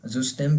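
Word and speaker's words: System: हमारा common word है सिस्टम, हम कहते हैं सिस्टम, हम कहते हैं ना ये वाला इंग्लिश में, तो स्पेलिंग यही सेम होती है जर्मन के अंदर, लेकिन वो इसको जुस्टेम कहते हैं, जुस्टेम।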